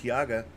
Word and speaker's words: Taiga: We haven't done a snow map since Medved Tiaga or Taiga, Medved Taiga. Was that what you were trying to say earlier? It's pronounced Taiga.